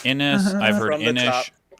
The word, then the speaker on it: Inis: no, I got to find like an Irish pronunciation website of how you say this word. Wait, how do you say it's it? Inish.